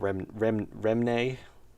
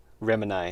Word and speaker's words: Remini: Sometimes it's about Remne. I've probably been pronouncing your name wrong this whole time. Remini, it's way better. You got to add a little extra vowel in between the M and the N.